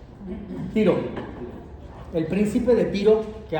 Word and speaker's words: Tiro: Tiro. Algunos lo pronuncian tiró. Tiro.